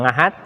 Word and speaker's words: Ahad: itu biasa menggunakan kata Ahad walaupun di dalam bahasa Jawa itu kata biasanya diucapkan dengan bunyi ngengat karena orang Jawa susah mengatakan secara fasih bahasa Arab jadi ada yang ngahat Senin Selasa Rabu Kamis